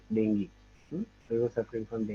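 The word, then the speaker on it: dengue: work oh but uh Sly he suffered from dangu so we don't say dangu the pronunciation in English is not dangu you know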